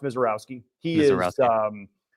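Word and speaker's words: Misiorowski: Yeah, it's spelled Mizorski but pronounced Misowski.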